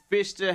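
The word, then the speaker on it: Pfister: Yeah, it's both both the American both the American pronunciation and the British pronunciation is the Fister Hotel then.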